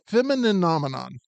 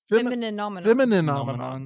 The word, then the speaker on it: Femininomenon: Oh, it is femininomenon. Femininomenon. Wait, what were we saying? I was saying femininomenon. I was doing the same thing I do with Mississippi. I was leaving some syllables out.